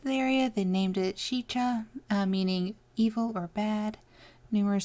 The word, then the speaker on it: Sica: Sica. Alright. When the first Native Americans visited the area, they named it Sica, meaning evil or bad.